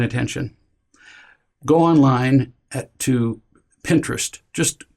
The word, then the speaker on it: Pinterest: go online at to Pinterest just Google it sounds just like sounds like interest with a p in the beginning I mean that's how